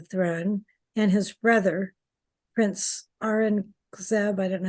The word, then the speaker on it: Aurangzeb: guess, to the throne, and his brother, Prince Aurangzeb. I don't know how you pronounce it. Yes, Aurangzeb.